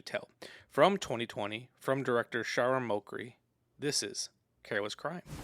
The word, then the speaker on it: Shahram: We've got filmmaker, how do you pronounce his first name? Was it Shahram? Shahram, okay.